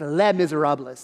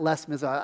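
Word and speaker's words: Les Misérables: be cultured uh it's the s is silent it's le miserables not les miserables i learned this just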